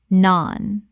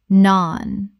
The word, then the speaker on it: naan: Common mispronunciation: naan. Correct pronunciation: naan. Rhymes with barn. The vowel is long, like the A in father.